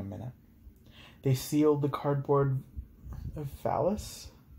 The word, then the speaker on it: valise: They sealed the cardboard valise? It's spelled V-A-L-I-S-E.